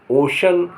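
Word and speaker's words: ocean: L cruel माने क्रूर कभी-कभी सी के बाद आई ए या ई ए हो तो श श की ध्वनि देते हैं श श की ध्वनि देते हैं सी के बाद क्या आया आई ए या ई ए आई तो श हो जाता है जैसे एस ओ सी आई ए L social social social माने सामाजिक ओ सीई ए एन ओशन ओशन माने समुद्र एम यू एस आई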